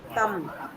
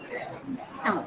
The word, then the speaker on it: thumb: Thumb. Thumb. B is silent.